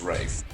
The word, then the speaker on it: Ralph: is a tradition in the UK England of pronouncing Ralph Ralph as Rafe yeah it seems to happen a lot in